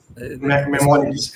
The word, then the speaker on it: Maimonides: If I'm just pronunciating it right, I will ask Dr. Saeed Akhter. He has been Maimonides. Maimonides.